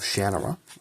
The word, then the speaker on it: Shannara: Al-Anon's Quest is a prequel to the Sword of Shannara, or Shannara, depending how you say it.